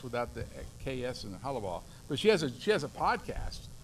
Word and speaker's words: Hollabaugh: And the way I can remember how to pronounce that is like Hollybecks was where you bought your Aggie boots back in the day. But you just forget to say the Becks is Hollabaugh.